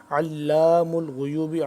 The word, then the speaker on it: علام الغیوب: آ رہے ہیں جس کو ہم کریں گے ہجے کریں گے۔ علام الغیوب عین لام زبر علام الف زبر لا علام